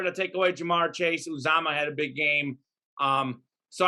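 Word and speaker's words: Uzomah: I probably going to mispronounce his name, so I won't bother. But Joe Mixon in the backfield. CJ Uzama? Uzama, that's it. Uzama.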